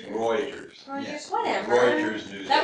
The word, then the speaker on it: Reuters: It's not Reuters. It's Reuters.